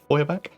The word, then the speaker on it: Feuerbach: It is rumoured that Count Feuerbach, I think it's pronounced actually, Feuerbach, of Talabecland had his coronation made, armour made by Eldric Holstein, the head of the family.